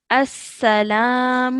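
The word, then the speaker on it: السلام: well done excellent so this lamb over here is silent so that's why you straight away join the Alif to the scene s-sir and then lamb Oh as Salam o Oh perfect well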